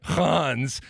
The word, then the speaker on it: Reims: It starts with an R, but I know you just pronounced it completely differently. But how is it? Hans. Fuck. Jeez. All right, Hans, and it's spelled Reims, but.